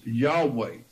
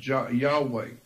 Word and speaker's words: Yahweh: on that name of Yahweh Yahweh is yahwah well I think the better pronunciation is yahwah and yahwah is actually